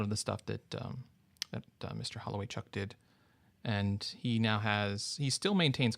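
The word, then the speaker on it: Holowaychuk: Does anybody know how to pronounce his last name? Holloway Chuck. Holloway Chuck, that's it.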